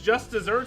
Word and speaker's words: just deserts: like i say it is just desserts but you're right is desserts it's spelled with two s's i never but i also think dog is right in that that's how it spelled which means it would be just deserts but that's not how anybody says it wait so why